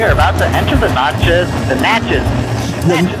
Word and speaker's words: Natchez: We are about to enter the Natchez. The Natchez. How do you pronounce it, Jason? Well, this is the Natchez, Natchez, Nache, Nacha Trace. Depends on if you're Spanish, French, English, or Native American.